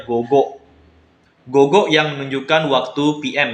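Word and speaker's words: 午後: tapi nggak tembus ya minasang, ditambah kanji usiro, dibacanya gogo.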